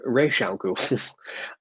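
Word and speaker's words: Ra's al Ghul: re-watch yeah definitely so i go with the batman animated series pronunciation on this one so this is rachel ghoul to me uh so ray shall cool i i'm gonna iceberg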